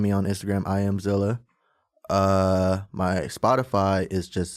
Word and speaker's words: 7illa: makes it easier um but it's pronounced Zilla um you go ahead